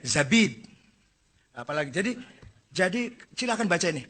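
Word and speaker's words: زبيد: Az-Zabidi. Bukan Zubaid. Zabid.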